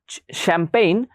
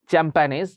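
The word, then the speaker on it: champagne: afford করা যায় সেটাকে বলে এফোরডেবল এডজেক্টিভ অবভিয়াসলি শ্যাম্পেইন এটা কেউ আবার উচ্চারণ করবে না চ্যাম্পানিজ শ্যাম্পেইন এটা ফ্রেঞ্চ ওয়ার্ড শ্যাম্পেইন হচ্ছে একটা মদের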